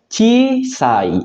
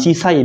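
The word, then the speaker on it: ちいさい: Yang pertama, ketika kanji kecil ditambah dengan sai, dia akan dibaca, tentu saja dibacanya chisai. I-nya double ya, minasang. Chisai. Bukan cisai, bukan gitu aja. Tapi chisai.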